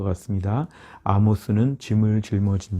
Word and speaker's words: Amos: 내포되어 있을 것 같습니다 아모스는 짐을 짊어진 자 영어로 발 때도 amos에서 아모스 발음 그대로 있는데요 영화 발음으론 에이머스 이렇게 발음하게 되어 있습니다 우리말로는 아모스 선지자